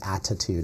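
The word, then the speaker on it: ADDitude: So instead of attitude, it's attitude, like ADD.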